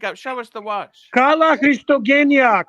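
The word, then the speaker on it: Καλά Χριστούγεννα: What So I watch can did you pronounce pick up? What watch did you pick up? Show us the watch. Kala Christogenia. Kala Christogenia. Yes, that's exactly how you say it. Kala Christoyan.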